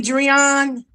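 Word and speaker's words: De'Dreion: Am I saying your name right? Drian. Yes, absolutely. You are saying it correctly.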